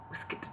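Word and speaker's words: waistcoat: his corduroy waist coat a word pronounced incidentally whisk let see try that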